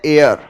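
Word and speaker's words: heir: इसका correct pronunciation है एयर। H silent है।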